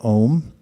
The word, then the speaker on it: Om: Om is a mantra. It's actually 3 letters, A-U-M, but due to Sandhi rules, the way vowels are merged together, it's pronounced as one syllable, Om.